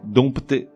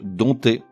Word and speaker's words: dompter: Dompter, dompteur. Là, j'avoue, le mot est piégeux puisqu'il s'écrit avec un P devant le T.